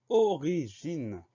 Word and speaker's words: origine: Première syllabe O s'écrit avec un O. Deuxième syllabe RI s'écrit avec RI, sans surprise. Syllabe suivante J, le son J s'obtient avec la lettre G, donc GI pour cette syllabe. Et enfin, dernière syllabe, NE, NE, sans surprise.